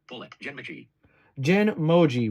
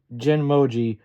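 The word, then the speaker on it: Genmoji: it's still a beta genoi J mooji voiceover is pronouncing this weird so we're going to refer to this as genm Moji but it's it it's all one word so it's reading it wrong allows you to create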